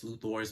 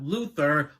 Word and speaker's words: Luthor: on it which is Lex Luthor's building not Luther Luthor that's how it's pronounced so you know he